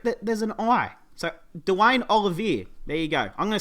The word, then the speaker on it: Olivier: this guy's name as his last name as oliver it's actually pronounced olivier didn't even know that until i heard a